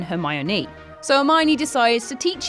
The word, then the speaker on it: Hermione: pronounce her name properly he calls her her my own rather than hermione so hermione decides to